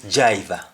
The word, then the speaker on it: jaiva: you dr in jamaican if a word starts with dr in in most cases its pronunciation for dr will be j so what's like driver when a jamaican is talking of driver they say jaiva when a jamaican says